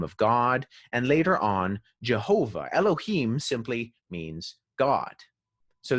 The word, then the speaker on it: Jehovah: were germanizing it and the y turned into a j because there's no j in hebrew and that's where you get jehovah jehovah is sort of this germanicized anglicized version of yahuwah but once again no